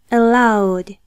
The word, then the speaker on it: allowed: Es por ello que pronunciaremos la ED del pasado de permitir como una D. Sería allowed.